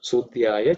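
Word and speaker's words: सूद्याय: Okay, this Idya is the third letter in the Varga, so it is not aspirated. Okay, Sudhyaya Sarasyaya Cha. So we just pay attention that you don't make it aspirated sound. Sudhyaya Cha Sarasyaya Cha.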